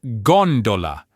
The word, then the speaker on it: gondola: So, after our golden rule, the next most common pattern you'll find is the stress falling on the third to last syllable.